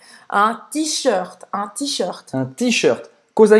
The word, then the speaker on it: t-shirt: Presta atenção nessa pronúncia afrancesada. Un t-shirt.